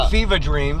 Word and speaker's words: Fevah Dream: It was Fever Dream, but you have to say it like you're from Boston. It's Fevah. F-E-V-A-H, Fevah Dream.